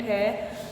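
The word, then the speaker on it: who: देखिए ये हु, H और O की ही सिर्फ साउंड आई है, W की नहीं आई है।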